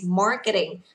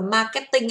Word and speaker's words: marketing: Một số bạn thì thấy là phong cách của tiếng Việt là bạn đọc là marketing, nhưng mà trọng âm của chúng ta đọc ở dưới nhất này, đọc là mar, vì âm này là âm a dài ạ. Và ở đây nó có chữ r, các bạn phải nâng lưỡi kéo dài lên cho cô nhá.